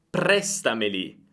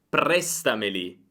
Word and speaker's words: prestameli: Prestameli, prestameli. Io non dico presta, prestameli. Non cambia, perché questi pronomi non hanno un accento, l'accento rimane su presta.